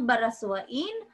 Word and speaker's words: Barasoain: Ian baran ah it we pronounce it Baras simbahan ng Barasoain or Our Lady of